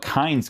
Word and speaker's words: Kainz: Okay, guys, so final verdict on the new Kainz card. So that's how you actually pronounce this game, apparently, to FIFA.